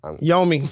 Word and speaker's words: Yomi: So Yumi gonna ban us, and that's the end of us. And I said her name wrong. Yomi. Yomi.